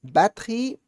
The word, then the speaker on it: batterie: Aqui eu tenho nom, nom, préféré, préféré, répéter, répéter, batterie, batterie, rivière. rivière, Voilà. Batterie que é legal porque tem um E no meio que não se pronuncia, tá?